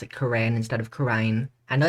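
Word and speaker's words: Kurain: Quran I know it's Karine I'm gonna pronounce it Korean partially because quite a few people actually call it Karen so yeah I'm gonna call it coren even though I know it's korane just for uh easier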